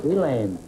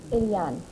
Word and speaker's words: Eliane: Elaine, is that the way you pronounce it? Eliane. Eliane, huh?